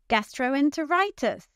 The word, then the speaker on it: gastroenteritis: Which syllable is stressed here? Gastroenteritis. Gastroenteritis. That's right. It's the fifth syllable.